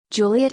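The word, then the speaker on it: Juliett: Juliet is spelled with a TT for French speakers, because they may otherwise treat a single final T as silent.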